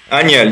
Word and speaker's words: Agnel: for France, and I don't know how to pronounce his name either. Yannick Agnel or Agnel? Agnel, you get it right.